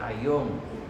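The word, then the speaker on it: αἰών: Y cuando habla de fin del mundo, esa palabra fin es una palabra que en griego se pronuncia aion, que es un tiempo determinado, no el fin de todo el mundo como nosotros lo conocemos.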